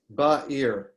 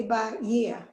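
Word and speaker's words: בעיר: Ba'ir. You don't say ba year and pronounce the yud. No. Okay, thank you. The yud is just part of the E vowel. Thank you. So it's two syllables, ba'ir, Okay, in the thank you.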